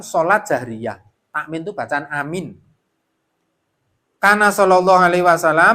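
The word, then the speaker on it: آمين: aman ne ad J amin amin amin aman aman aman atau Amin itu is dipercaya is dipercaya is dipercaya mestinya bacanya Amin bacanya Anya panjang minnya panjang fadilahnya Imam jika Imam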